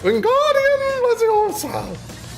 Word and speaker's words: Wingardium Leviosa: Wingardium Leviosa.